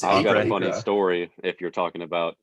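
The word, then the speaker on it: Akre: look we don't really look much at chuck agra is it it's a acree story if you're talking about pronouncing his name i ran into him at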